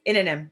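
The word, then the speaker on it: Innanen: And it reminds me of something similar to what Summer Inanum, is that how you say her name? Yes, Inanum, yeah.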